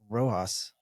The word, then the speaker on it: Rojas: business and in it joining us is Cody roas right the I pronounce that correctly okay I wanted to make